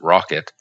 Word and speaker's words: rkt: are alternatives such as rkt pronounced rocket linux containers and openvz